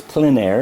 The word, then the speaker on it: plein air: I may have said Plein Air earlier, but it's Plein Air is the correct pronunciation.